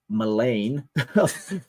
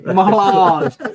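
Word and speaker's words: mélange: malfunction breeds of grotesque malain Malone malange sorry I forgot that e above the apostrophe above the e the malange of Misfit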